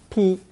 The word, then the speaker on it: 劈: Pronounced first tone 劈.